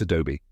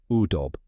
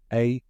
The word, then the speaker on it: Adobe: Most people pronounce it correctly, but some might say A-dob or U-dob. Just remember, it ends with a long E sound. Here's a quick spelling tip. It's spelled A-D-O-B-E.